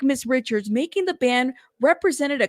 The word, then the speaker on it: Richards: Rich okay gotcha thank you so much it's pronounced Richards let me know if I said it because it's cre okay Richards correct me love thank you thank you for correcting me I keep saying Richard Richard because it's with an R you know because